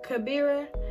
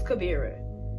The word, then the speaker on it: Kabira: channel with your girl Kabira back with another video and my name is it's kuvira so it's not life as it's like this birra because I've heard people